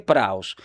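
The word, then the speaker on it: πραΰς: Se pronuncia pra es praus.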